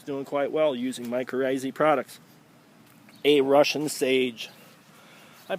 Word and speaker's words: mycorrhizae: Just proven to you that mycorrhizae products, mycorrhizae products is the correct way to say it, works, and sometimes it takes a little longer than others.